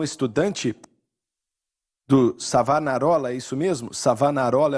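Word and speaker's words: Savonarola: ele era um estudante do savanarolla isso mesmo savanarola é o nome dele eu tenho que pronunciar correto porque minha esposa é italiana eu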